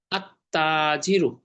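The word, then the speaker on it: التاجر: আর তা জবর তা, তালো স্পর্শ করে, এটা সূর্য বর্ণ, এখানে লামের উচ্চারণটা হবে না। আত্তাজিরু, আত্তাজিরু, তাই তাসদীদ দিয়ে মিলিয়ে পড়তে হয়।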